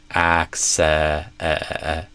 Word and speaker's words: access: or yeah an e access not i. So not access but access and then the stress actually goes on the first syllable access.